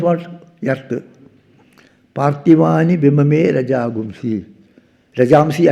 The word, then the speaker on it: Rajamsi: Rajamsi actually. Rajagumsi is a Vedic pronunciation.